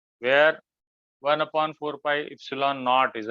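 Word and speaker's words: epsilon: इप्सिलॉन पढ़ते हैं बेटा, ध्यान रखना, ऐसा प्रोनाउंसिएशन है, बड़ा सरल है।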